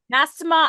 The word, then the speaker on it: Mastema: And not mass, I cannot pronounce that word. Mass, what's it called? Mastema? Mastema.